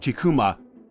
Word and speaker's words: Chikuma: Jun chumo H sorry I think it's pronounced like chikuma who is well known for